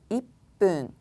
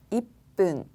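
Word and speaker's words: いっぷん: 분이 조금 어렵습니다. 그 이유가 앞에서 설명드렸던 것처럼 분은 앞에 오는 숫자에 따라서 그 발음이 조금씩 달라지기 때문에 그러한데요. 1분부터 보도록 하겠습니다. 1분은요. 이쁜. 반타금이었죠. 이쁜.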